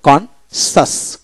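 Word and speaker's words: conscious: Fascinate অর্থাৎ এস আই এন এটি fascinate সের উচ্চারণ হলো না এরপর হল কনসাস কনসাস এখানে সিন কন সি আই ই এন সি কনসাস কনসাস এভাবে উচ্চারিত হবে।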